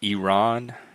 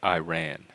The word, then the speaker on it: Iran: correctly pronounce anounce Iran it's Iran not Iran this is from PBS